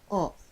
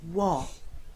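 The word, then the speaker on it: を: As I said earlier, we used to read this letter wo, but since the sound of wo kind of disappeared in modern Japanese, now we simply pronounce this letter o.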